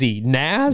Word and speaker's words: Nas: the little shout out but how do you pronounce his name na AZ Nas Nas okay Nas it is like Nas a cool dude like